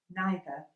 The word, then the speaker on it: neither: So either / either and neither / neither are not necessarily homographs; we just pronounce them in two different ways, and 'either' or 'either' is absolutely fine!